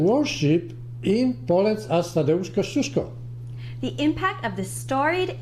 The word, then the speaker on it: Kościuszko: Kościuszko? If you have problems with pronouncing or spelling Kościuszko's name, don't worry.